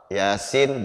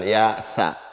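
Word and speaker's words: يس: Yasin jangan yasa, yasin.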